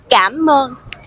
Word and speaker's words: Cảm ơn: Cảm ơn.